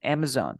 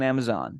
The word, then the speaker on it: Amazon: river Amazon yeah but remember that we have a z here so we say Amazon Amazon I have to buy some products on Amazon you Amazon yes Amazon